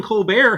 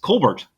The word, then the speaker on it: Colbert: I pronounce it Levy. It's possible though, because Stephen Colbert, his family name is Colbert.